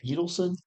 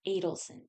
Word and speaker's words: Adelson: Is it Edelson? Adelson. Adelson. I think that's how you say it.